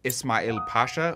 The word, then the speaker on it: Ismail Pasha: But after Ali, we have, I believe it's pronounced Ismail Pasha, which creates the Suez Canal.